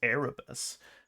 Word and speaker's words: Erebus: officer of the Erebus because I've been saying it wrong it's Erebus um I picked the